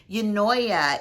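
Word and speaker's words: Eunoia: going to talk about i think it's pronounced um yanoya it's e-u-n-o-i-a i will always link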